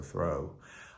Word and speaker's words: through: all my journey through that's through but I guess you're supposed to rhyme with flow so throw um but this is